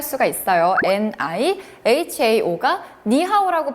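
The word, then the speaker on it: 你好: 라는 말은 중국어로 니하오 하죠. 니하오는 한자이고요. 한자 외에서 이 발음 표시하는 거 따로 있습니다.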